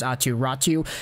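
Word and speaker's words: Aatu Räty: in finnish it's not pronounced like that it's pronounced aturatu he actually has a brother akiratu who was taken by the arizona coyotes in the most previous entry draft but atiratu is the guy whom many people thought would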